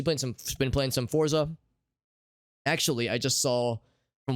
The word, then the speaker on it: Forza: ago uh she played some been playing some forza actually i just saw from one of the developers allegedly it's pronounced fort za i did not know that but apparently according